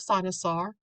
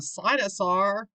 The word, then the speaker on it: cynosure: to know it's a sinus are so they're putting I'm like dinosaur sinus are to help you remember how to pronounce it and remember it's something